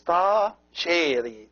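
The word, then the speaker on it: ⲧⲁϣⲉⲣⲓ: As we said before, this letter that looks like the E in Coptic, it is always pronounced A. So it is Ta-sheri.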